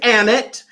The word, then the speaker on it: Emmett: now first of all the name is emmett rhymes with dammit you think you would